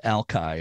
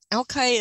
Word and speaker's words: Alki: to mention that uh for years I was never sure how to pronounce it and it is pronounced Alki right spelled pronounce it now alkai is um it's a